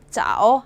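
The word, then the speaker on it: 早: 자오 하시면 되죠. 이렇게 외우시면 아 너무 못 썼다. 다시 한번 쓸게요. 해일자죠. 네. 집병선 위에 떠서 확 비춰줬어요. 그래서 이르다 빠르다를 나타냅니다. 자오 발음이 자오 이르다.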